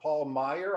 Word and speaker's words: Paul Meyer: And next on my screen, we have Paul Meyer. I hope that's the way to pronounce it, Paul.